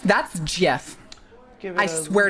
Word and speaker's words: Jif: It's top pronounced it off, Gif. That's Jif.